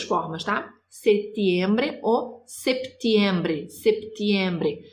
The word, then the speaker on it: septiembre: Setembro ou septiembre, septiembre. Se tem o P, precisa pronunciar o P, tá?